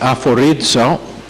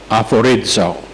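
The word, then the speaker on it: ἀφορίζω: Es una palabra que es aforizo, A-P-H, que se pronuncia F, como el F, A-P-H-O-R-I-Z-O, aforizo.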